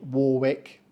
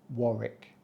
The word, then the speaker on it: Warwick: simple isn't of course we don't say Warwick we say Warick Warick so don't say Warwick and don't say War or Warwick uh just dropped the silent W entirely like it's gone to